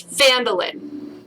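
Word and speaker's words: Phandalin: Phandelver, it's Phandelin. It's so weird that you say them different. It's Phandelver. It's the Lost Mine of Phandelver, I think. Yeah, it's Phandelver, but it's Phandelin.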